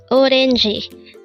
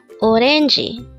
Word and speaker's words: 오렌지: Orangi. This is pronounced as a three-syllable word. The first syllable is O, second syllable is ren, and third syllable is G. Pronounce it with me. Orangi.